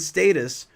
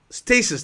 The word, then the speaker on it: stasis: animals in potential and status is that the right way to say it stasis thank you thank you i knew there